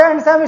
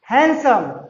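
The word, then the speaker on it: handsome: उसके बाद देखिए हम पढ़ते थे हैंडसम, नॉट हैंडसम student, हैंडसम, हैंडसम, ठीक।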